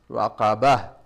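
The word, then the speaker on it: رقبة: So if I cross, I pronounce this as a Ta, but if I stop, I pronounce it as a Ha.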